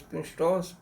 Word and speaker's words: pneustos: कहते हैं, और निमोस्टास, यहाँ पी साइलेंट समझिए, पी साइलेंट होता है, PNEUSTOS, प्नुस्टोस।